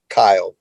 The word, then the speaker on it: Kyle: And it's Kyle, Kyle. The Kyle part is totally normal. The Kyle part's totally normal. Yeah. The way that it sounds, that's how it's spelled, Kyle.